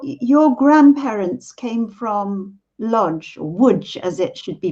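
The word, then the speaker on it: Łódź: identity sergio your your grandparents came from lodge woods as it should be pronounced in poland and um you told me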